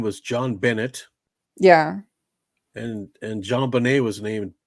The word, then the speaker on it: JonBenét: pronouncing the name that it's pronounced with a French accent, Right. JonBenét.